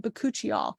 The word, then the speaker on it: Bakuchiol: And then the Farm RX Bakuchiol, that's how you say it, Bakuchiol, which is the plant-based retinol, alternative to retinol.